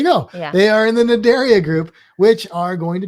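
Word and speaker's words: Cnidaria: the file name is what's it start with a c but it's not pronounced with the c area there you go they are in the nadaria group which are going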